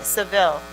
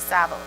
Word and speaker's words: Seville: All right, Seville, right, instead of Saville.